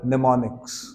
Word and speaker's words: mnemonics: this these were called mnemonics Ms silent Ms silent these are called mnemonics